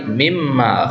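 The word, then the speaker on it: مِمَّا: Mimma ini berasal dari kata min dan ma. Ya, ini bacanya min ma. Tapi kalau min ma itu kan bisa diidgham, bisa dibaca gabung. Jadi yang mimma, gitu ya.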